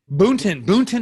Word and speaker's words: Boonton: I came down to Jersey, Boonton. Is that how you say it? Yes. Boonton, New Jersey.